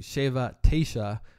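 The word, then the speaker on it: שבע תשע: standard Israeli lagers and is pronounced in Hebrew Shiva Tasha which just means seven nine prices are reasonable and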